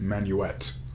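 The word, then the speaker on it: Manuxet: i mispronounced next time it's actually pronounced manuet so let's fix that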